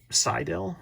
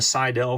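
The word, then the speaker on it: Seydel: Another brand that has really made the waves are Seidel, I think is how it's pronounced.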